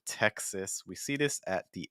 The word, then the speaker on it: Texas: gonna see there so this is a state in the United States Texas and I know you see that A S at the end but it actually is going to finish with a short I sound like in Texas Texas Texas so make sure that you're not just using like a schwa sound so it's not Texas or it's not text ah it's more Texas we see this at